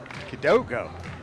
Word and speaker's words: Kidogo: That's not how you pronounce that, is it? Kidogo. Oh, Kidogo. Correct me, Rob. Kid I Dog. told you. There's an O at the end.